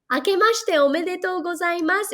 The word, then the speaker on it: 明けましておめでとうございます: 明けましておめでとうございます.